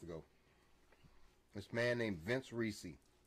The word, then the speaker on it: Ricci: This man named Vince Ricci. Ricci is how you pronounce it? Excuse me. Yeah, just like Christina.